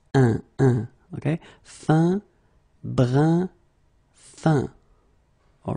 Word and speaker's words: brun: Numéro 13, it's this un, so nasal, it goes in your nose, un, fin, okay, fin, un, fin. Then another example, brun, brun, okay, fin, brun, fin.